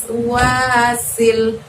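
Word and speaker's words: الوسواس: Nah, wasnya di situ seperti kalian lihat di layar Miss Yuli pakai huruf sin, tidak ada titik 3-nya. Maka kita ngucapinnya kalau Miss Yuli bisa katakan sih untuk memudahkan kalian, ditarik ya bibirnya kayak orang tersenyum ya, jangan didorong ke depan bibirnya. Wasil.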